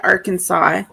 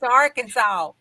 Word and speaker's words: Arkansas: No, it's Arkansas. Arkansas. Yeah. What's the fine? What's the fee? What's the penalty? It is. Let's see. There is no Kansas in Arkansas, y'all.